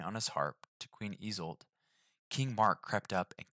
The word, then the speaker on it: Isolde: Isolde. So Isolde. No more is told of him, though a legend says that one day while he was seated playing on his harp to Queen Isolde, King Mark crept up and killed him by